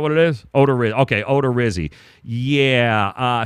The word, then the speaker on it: Odorizzi: Because of some dude named Jake Odorizzi or good Christ, nobody even knows who this guy is.